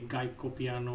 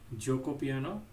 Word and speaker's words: Gioco Piano: a lot of even chess coaches do not pronounce this properly. A lot of them say Gaiko Piano or Goko Piano or Guko Piano or whatever. It's actually pronounced Gioco Piano.